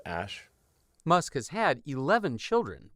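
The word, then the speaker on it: Æ: letter x and then the AE is like pronounced Ash musk has had 11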